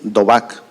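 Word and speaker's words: דָּבַק: No, o sea, es en el original, en el hebreo, esta palabra unión, no estoy seguro de tener la pronunciación correcta, es dobak, ¿sí?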